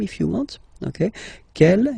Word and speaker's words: quel: Okay, but then we pronounce them the same way.